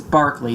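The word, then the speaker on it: Berkeley: Bishop George B Barkley and yes it's Barkley the school in Northern California is named after him yet they decided to pronounce the name differently because some weird reason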